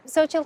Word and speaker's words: Xochitl: Okay, yeah, the L is silent. Okay. So, how would you like to introduce yourself, Zoë? I'm Zoë Torres Small and I am from New Mexico.